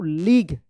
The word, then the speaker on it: league: लीग।